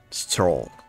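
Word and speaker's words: Strohl: that right m a certain weight to it Stoll okay for what I prefer saying Leon but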